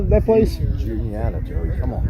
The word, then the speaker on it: Juniata: Juniata, Joey, come on. Juanita?